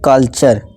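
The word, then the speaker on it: clue: अब rule number 5 क्या कहता है, जब किसी वर्ड के लास्ट में यू ई आए तो यू ई को डबल बड़ा ऊ से पढ़ें। ठीक है, जैसे एग्जांपल देखिए, ब्लू, ट्रू और क्लू।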